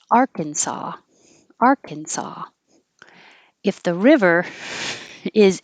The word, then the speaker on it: Arkansas: that here it's pronounced arkansas arkansas if the river is inside kansas which it goes through different states but if it's inside the state of kansas it's called the arkansas river um i'll say i'll